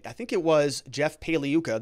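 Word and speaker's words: Pagliuca: think it was jeff paliyuca the g is silent when he was cross-examining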